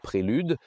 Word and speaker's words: Prelude: Voici la Honda Prélude prononcée correctement à la française.